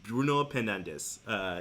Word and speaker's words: Bruno Fernandes: Bruno Fernandes.